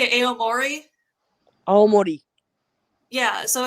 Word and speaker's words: Aomori: Aomori.